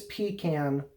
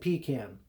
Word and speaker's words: pecan: Yes, I said pecan. That's the right way to say it before people down south got all embarrassed about saying pecan, and now everybody has to be politically correct and say pecan or pecan.